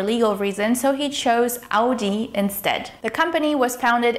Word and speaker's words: Audi: Repeat after me. Audi. With the emphasis on the first syllable.